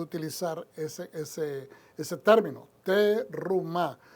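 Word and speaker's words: תרומה: es ese ese término teruma algunos pronuncian terum o terumá como se dice en hebreo pero pues ter ruma para que se oiga sea más fácil para las personas pronunciarla en español y como dije anteriormente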